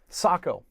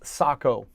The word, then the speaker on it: Sako: Speaking with people who are in the know, the correct pronunciation is Sako. If you say Sako, only those people that know what you're talking about. If you say Sako, everybody knows what you're talking about, but you look like you might not know what you're talking about.